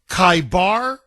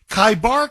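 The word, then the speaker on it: Khaybar: So, what this means is Kaibar, Kaibar, O Jews, the army of Muhammad will return.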